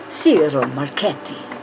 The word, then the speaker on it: Ciro Marchetti: Ciro, you got to roll your Rs. Ciro Marchetti.